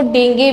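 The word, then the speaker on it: dengue: होती है तुम्हारे पास डेंगू। ठीक है, इसको डेंगे भी बोला जाता है, इसकी जो प्रोनाउंसिएशन होती है एक्चुअल में डेंगे बोला जाता है, डॉक्टर इसको डेंगे बोलते हैं।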